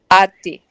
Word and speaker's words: ate: Ate. Se escribe. Eight. Ate. The pronunciation is ate.